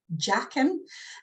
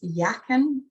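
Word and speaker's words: Jachin: and the other one was called jaqen i think it's actually pronounced yakin in the way it would have been said then it's you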